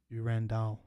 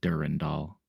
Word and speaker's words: Durandal: So durandal. Okay. Durandall. Sorry. Durandall. That's you. You like split it into three syllables. You don't say like durand. It's durandall.